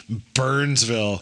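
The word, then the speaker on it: Byrnesville: fantastic Burnsville it's spelled b y r n i don't care Burnsville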